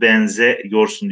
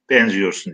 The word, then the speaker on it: benziyorsun: aldığında yazımı bozulmuyor fakat telaffuzda benzemek diye okumuyoruz benze yorsun diye okumuyoruz benziyorsun diye okuyoruz kuğ gibi denizlerde geniz